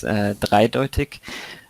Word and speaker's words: dreideutig: It's dreideutig, which in German we have the word zweideutig, which is with the 2 instead of the 3, which means like ambiguous, I guess is a good translation.